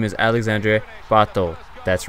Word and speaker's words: Alexandre Pato: Yes, Alexandre Pato, that's how I say it.